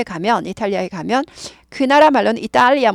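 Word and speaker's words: Italy: 이탈리아에 가면 그나라 말로는 이리아 뭐 이렇게 되는 거 같아요 그런데 영어로는 it 이렇게 써요 이렇게 쓰고 발음은 이탈리 하지 않고 이리 약화 돼요 약화 이탈리에서 이리 이리로 약화돼 이리 it 그러니까 우리가 어떻게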